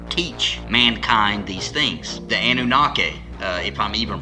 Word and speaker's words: Anunnaki: The Anunnaki, if I'm even pronounced, that's how I've always pronounced it.